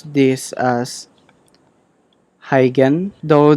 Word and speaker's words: Huygens: just pronounce this as hygiene though that dutch pronunciation of this is difficult how can so i'll